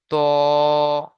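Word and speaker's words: ط: দেখেন, এই যে প্রথম অক্ষরটা দেখতে পাচ্ছেন, এটাকে বলা হয় ত। ত উচ্চারণ করার সময় মুখ গোল হয়ে যাবে। কেন? স্টার চিহ্ন রয়েছে এই জন্য, আর এক লেখা রয়েছে এই জন্য এটাকে একালি পরিমাণ টান দিয়ে পড়তে হবে।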